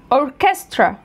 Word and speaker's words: orchestra: طب الكلمات ديت بتتنطق كي، كي، فانا بقولها technology. دي الشواذ بتوعها، technology، technical، mechanic، psychology، alchemist، biochemistry، chemistry، chemist، character، character، echo، mocha cafe، orchestra، physical، scholarship، scholarship، school.